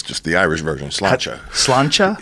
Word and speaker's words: Sláinte: Sláinte. Sláinte? Sláinte. Yeah, like Slainte, I believe is how it's spelled.